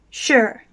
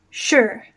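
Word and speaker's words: 十: number 10 is pronounced sure and it's in second tone going up sure sure so for the numbers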